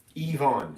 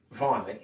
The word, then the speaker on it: Yvonne: Yvonne. Yeah, there you go. Yvonne. The Y is an E.